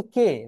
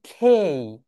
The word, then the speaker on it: K: তাহলে দেখেন, এটাকে আমরা সবাই বলি কে, রাইট? সবাই বলে কে। কে কে কে বলো দেখি, থামস আপ দেখাও তো, হাত দেখি, হাত দেখি। সবাই কে বলি, রাইট? কিন্তু এটা রাইট প্রোনাউন্সিয়েশন হবে খেই।